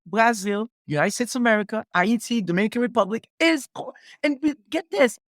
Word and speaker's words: Haiti: You pronounce it Haiti.